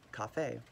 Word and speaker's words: kahve: So the French and Italians sort of kept it more true to the Turkish pronunciation of it and sort of kept that a sound, for example, kahve.